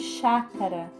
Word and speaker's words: chácara: no fé café Chácara Qual que é a sílaba tônica de chácara nó nós puxamos muito a fala né a fala fica forte com mais força no chá Chácara certo nariz a qual